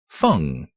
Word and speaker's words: Feng: Feng. In CM, a Duke of Kusan. A common Chinese surname rhyming with Hung.